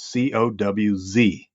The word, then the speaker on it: Coues: He wrote a manuscript once, and he had a footnote, and he says, "My name is pronounced Coues, Cowz," in quotations.